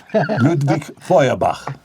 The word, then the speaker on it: Ludwig Feuerbach: Es que eso hay que pronunciarlo bien, Daniel. Ludwig Feuerbach.